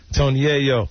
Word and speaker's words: Tony Yayo: Tony Yayo.